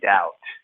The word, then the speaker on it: doubt: A good way to remember this word dubious is spelled like doubt. Doubt has a B that we don't pronounce. We say doubt as if it was D-O-U-T, but there's a B in there.